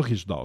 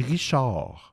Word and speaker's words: Riche d'Or: Non, pas Riche d'Or, excusez. Je vais le prononcer comme il faut. Bijouterie Richard. Riche Riche apostrophe or Inc.